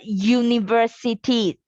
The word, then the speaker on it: university: we read it as we pronounce it as u it sounds like a y so the answer is